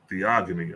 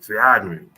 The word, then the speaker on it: Theogony: familiar with let's see how you say this theogony all right theogony the agony see I used to saying that